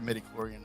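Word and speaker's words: midi-chlorian: There it is. Midichlorian. And if I'm pronouncing that incorrectly for anyone who's like just a deep Star Wars fan, I kind of apologize. I make no apologies. Leave me alone. Wait, we pronounced it right. That's how they say it in the movies and stuff.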